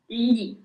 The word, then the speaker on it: gli: So the first one is li.